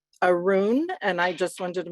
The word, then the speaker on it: Arun: he said, "Hi, I'm Arun." And I said, "Arun?" And I just wanted to make sure I had the pronunciation of his words, of his name correct. And he said, "Yeah, rhymes with maroon."